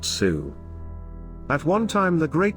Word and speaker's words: Sioux: their enemies the ojibwe the french mispronounced the ojibwe word as nade wisu and shortened it to sue the name by which